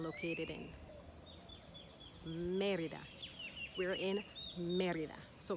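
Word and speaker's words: Mérida: in merida we're in merida so we won't put the emphasis on the eye or even the a only the e because that's where the accent is in the word merida merida and another state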